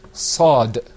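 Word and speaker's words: ص: Okay, now let's move on to our next letter, which is Sad. You can see that coming up on your screen, inshallah. Okay, let's practice. Repeat after me. Sad.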